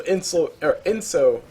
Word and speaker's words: Inso: So Inso, that's how you pronounce it. Inso on that Razor, he's feeling pretty happy about everything.